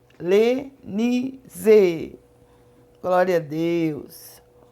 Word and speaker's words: Lenise: Cuidado quando você for pronunciar Lenise. Você tem que pronunciar bem forte para que você possa conseguir sintonizar esse canal. Porque tem vários nomes, né, assim, parecidos. Então, às vezes, você pede um canal e acaba caindo em outro canal. Mas sempre quando você for pronunciar o meu nome, você fala Missionária Lenise. Com Z, viu? Lenise.